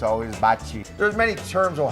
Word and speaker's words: bocce: So wedding parties can't wait to come here and get their picture taken on the bocce courts.